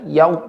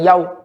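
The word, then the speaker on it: يوم: Waw sukun sebelumnya fathah. Ya, lembut ya. Yau, bukan yau. Yau. Ya, dihaluskan Pak.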